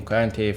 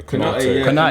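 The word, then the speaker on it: Konaté: So it's been not confirmed, but he looks likely to strengthen in centre back, getting Kante from. Yeah, Konate, Konate. That's how you say it.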